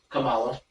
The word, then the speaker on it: Kamala: He's putting himself that it might swing over to Kamala Harris.